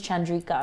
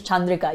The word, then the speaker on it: Chandrika: auditions and things, and they're like, oh, your name's Chandrika. I'm like, no, my name is Chandrika. You say it properly, it's Chandrika, That means a lot